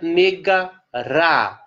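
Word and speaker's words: נגע: nomes formam um acrônimo esse acrônimo se pronuncia nêga a que em hebraico significa contágio do mal nêga a a contágio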